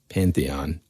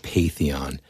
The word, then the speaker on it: pantheon: that that sort of Pantheon is that I know I said it wrong on one of the on the shows and it was like I think I said paeon but that that group